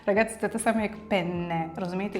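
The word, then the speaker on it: penne: чи замовляєте в ресторані осьці пене з двома ни там друга ни не просто так добре вимовляйте пене бо якщо скажете з одною Ни то означає що чоловіч слітевий орган все Бачите прошу дуже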